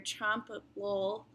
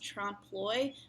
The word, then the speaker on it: trompe-l'oeil: casserole, your drum roll, your trompe-l'oeil, which is actually pronounced trompe-l'oeil, but I feel like she wanted it to rhyme with drum roll.